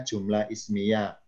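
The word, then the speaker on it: جملة اسمية: Bacanya jumlah ismiyah.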